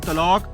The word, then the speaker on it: طلاق: طلاق کاف کتے والی تم نے کہا تھا. ادھر دیکھو یہ لکھا ہوا ہے طلاق کاف کینچی والی. طلاق کا اصل تلفظ ہے طلاق. طلاق اس طرح کہنا تھا.